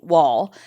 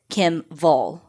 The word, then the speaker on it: Wall: Kim Wall, who the English pronunciation would be Wall, but she's Swedish.